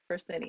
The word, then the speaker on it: Fresenius: I can't pronounce what the words you just said. So I'll be honest. F it's Fresenius. Fresenius.